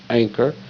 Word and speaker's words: anchor: Now, that N in anchor actually makes the G sound. Ng, ng. So the anchor, anchor, anchor, anchor, ng, anchor.